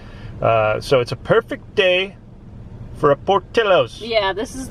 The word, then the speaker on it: Portillo's: i say that but you see the double l and in spanish pronunciation it would be portillo's but no this is portillo i got hungry with